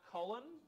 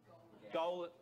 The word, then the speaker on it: Gowland: Player number 21, Collin. Gowland. butchered your name there.